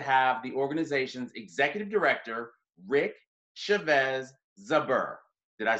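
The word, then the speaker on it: Rick Chávez Zbur: am honored to have the organization's executive director rick chavez zuber did i say that correctly yes you did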